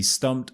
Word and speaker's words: stumped: is very important and that is stumped stumped right this is a mistake that a lot of my students make and it normally comes with these past tense verbs so verbs in the past tense that have the Ed ending so words such as